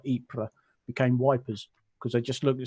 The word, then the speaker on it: Ypres: Julia wish but it's that similar sort of mispronunciation that in the First World War it was called wipers where it's actually Ypres ah y PR es but all the old